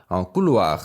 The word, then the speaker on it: couloir: 보통 이렇게 끝에 오는 경우에는 힘이 약해져서 couloir 해서 잘 안 들릴 수도 있어요.